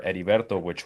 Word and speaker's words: Heriberto: his name, and the H stands for Heriberto, it's a silent H in Spanish.